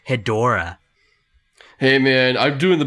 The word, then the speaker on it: Hedorah: not badra it's batra and it's not hedra it's hedorah hey man i'm doing